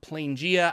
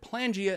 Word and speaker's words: Planegea: Yes, it's called Planegea. I know I said Planegea in the last video, which was incorrect because it's the beginning of the plains, you know, Planegea.